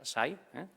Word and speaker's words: Xai: Y últimamente, por ejemplo, con el museo con la exposición temporal de Xai, que se pronuncia Xai por lo visto, yo decía Kai, pero es Xai, pues hemos hecho con